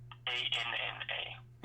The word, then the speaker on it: Anna: A-N-N-A. A-N. Spelled like Anna, pronounced Anna.